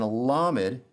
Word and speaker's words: lamed: And Lamed is pronounced like the L in lion.